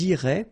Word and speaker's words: iraient: And then if you look carefully, you've got A-I-E-N-T, okay? But then phonetically it goes like E, okay? So technically these form and these forms here are pronounced the same way, and it goes like irait, okay?